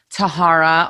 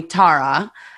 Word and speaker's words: Thara: Because Tara is spelled T-H, so it was always either Tahara or Thara. I'm like, oh God, that's not how you say it.